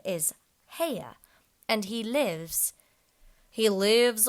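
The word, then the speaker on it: Haigha: does them when he's happy his name is heya he pronounced it so as to rhyme with maya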